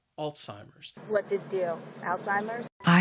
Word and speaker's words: Alzheimer's: memory loss alzheimer's now the word has three syllables and the stress is on that first syllable and i think that first syllable is what makes this word a little challenging alts it sounds like alts alzheimer's alzheimer's what's it do alzheimer's